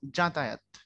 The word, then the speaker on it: যাতায়াত: না ভাইয়া এটা জাতায়াত না, এটার উচ্চারণ আবার আপনি করার সময় বর্গীয় জ দিয়ে করতে হবে। লিখবেন জ, উচ্চারণ করবেন জ, জাতায়াত।